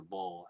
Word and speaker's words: Baal: gideon to sacrifice a ball after tearing down this ball altar and yes that is actually how you pronounce it the ancient text the